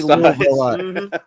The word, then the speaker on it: Louisville: I You can't can't say pronounce Louisville? it right. I even have a shirt that I got at one of the Louder Than Lifes that has every way that you can say saw it. Louisville on, right?